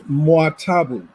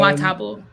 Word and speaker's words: Mwatabu: first name is Mwatabu. And Mwatabu. yes, Mwatabu, it's a Kiswahili name.